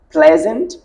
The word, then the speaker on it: pleasant: la prononciation a changé il y a d'autres exemples dans lequels le digramme E A est prononcé e par exemple bread head pleasant et peant ce sont autant de mots dans lesquels le digramme EA est prononcé est il faudrait donc pour